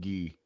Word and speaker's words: Guy: Canadian hockey players named G I don't know that would be guy to the center that that's how you pronounce pronounce the the the French way of pronouncing guy oh G yeah